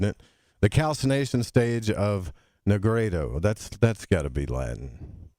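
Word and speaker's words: nigredo: So you say that the alchemists divided the 7 stages into 3 big phases, which is the blackening, which is pronounced Negreto, and the whitening, which is pronounced Albedo, and the reddening, which is pronounced Rubedo.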